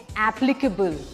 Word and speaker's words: applicable: Now the word is APPLICABLE. लोग उसको कहते हैं applicable, but that's not the right way of saying it. It's applicable. Applicable. That's how we'll say it.